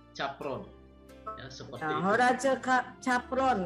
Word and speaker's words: Capron: Horace kalau bacanya Capron.